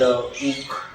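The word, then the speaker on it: Łódź: Institute, and there is this one called UK, which is in Poland. Okay. It's spelled like Lodz, LOD.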